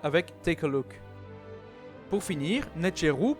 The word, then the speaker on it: nṯr.w: tes colloque pour finir net giroud prononcé nature où est le pluriel